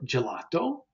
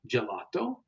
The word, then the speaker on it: gelato: G and the J the soft sound would be like the English J in jet so examples that you probably know are gelato gelato and Gina the name Gina in Italian